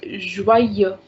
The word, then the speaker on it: joyeux: So when I cut EUX, then the sound is joie, but since it is along with this, so we need to pronounce, and the sound is joyeux. We read this word as joyeux, joyeux.